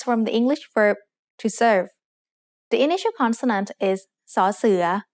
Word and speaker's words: เสิร์ฟ: make the vowel สระเอ The letter R in the English word serve doesn't get pronounced in Thai, so we write รอเรือ with การัน above it, just to indicate what the original spelling was. Finally, for fun is used in place of the letter V because there is no Thai letter that makes a V sound.